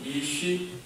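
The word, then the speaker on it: אִישׁ: 남자가 히브리어로 이쉬입니다. 이쉬. 여자는 히브리어로 이샤. 그러니까 비슷해요. 발음이 이쉬, 이샤.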